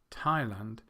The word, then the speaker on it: Thailand: the second syllable, whereas the first 3, Russia, Thailand, and China, have the stress on the first syllable.